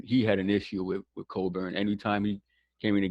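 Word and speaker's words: Cockburn: I mean, yes, Coburn. Make sure you pronounce yeah, do not sound that out.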